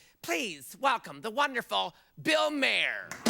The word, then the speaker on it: Maher: welcome the wonderful Bill Maher wonderful exciting thank you it's pronounced Mar do you know that